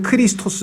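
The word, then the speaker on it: Χριστός: 메시아가 그리스도 크라이 원래는 크리스토스 에어 2 제 2회 2 저 그리스식 발음으로 하면 크리스토스 이것을 영어로 하면 은 발음이 조금 달라져서 크라이스트 가 되고 그것도 우리말로 하면 이제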